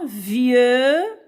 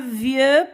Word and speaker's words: vieux: liaison ici, dans un vieux, alors, I-E-U se lit, c'est le son IE. X à la fin est muette, ne se prononce pas.